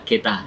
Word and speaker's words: Getter: Geta Studio, sebenarnya pronounce-nya Geta.